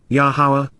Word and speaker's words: Yahowah: because KY indeed and reliably there sham yahwah yahawah the proper pronunciation of the name of yahwah our eloa